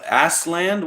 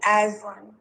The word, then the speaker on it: Aslin: My name's Aslin. All right, As- Aslin, what can I do for you? Um you say it like it's a Z, Aslin.